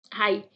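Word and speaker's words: high: नो, नो में के silent है, नाइट में के साइलेंट है, एच में हाई, हाई में जी साइलेंट है, ओके।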